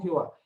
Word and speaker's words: Jehová: literal quedó como jehová por ejemplo la iglesia tradicional y la iglesia católica ellos pronuncian el nombre del señor como ya ve correcto como sabe muy bien nosotros lo pronunciamos como jehová indistintamente los dos son correctos correcto los dos son